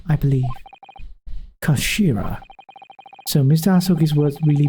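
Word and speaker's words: 頭: end of the hilt it's written as head in Japanese but it's pronounced as Kashira I believe Kashira so Mr asuki's words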